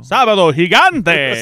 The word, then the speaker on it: Sábado Gigante: Sábado Gigante.